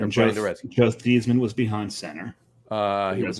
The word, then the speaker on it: Theismann: Theismann. It's supposed to be pronounced Theismann. He changed it to Theismann to rhyme with Heisman when he got into college.